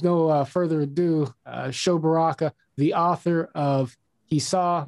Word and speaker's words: Sho Baraka: uh further ado uh show baraka the author of he saw that it was good did i get that right you got it right my friend my name pronunciation and everything so we're already on